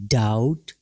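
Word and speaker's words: doubt: डाउट, B silent है।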